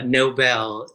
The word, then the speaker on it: Noble: a super fan um could i correct you on the pronunciation of my last name it's uh nobel nobel like the peace prize all right i just